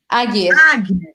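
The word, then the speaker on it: Ægir: A Erdir. Eu sei que como se pronuncia? A Erdir? Agir.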